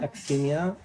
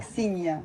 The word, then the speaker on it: Aksinya: Aksinya. Is that same as Ksenia? Not Aksinya is different. Aksinya.